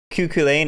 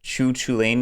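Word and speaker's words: Cú Chulainn: entirely true though because isn't like kukulen actually pronounced like choo choo lane or something in the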